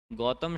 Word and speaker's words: गौतम: आप कर रहे थे गौतम शब्द होता है कि क्या होता है? तो गो नहीं होता, गौ होता है ना?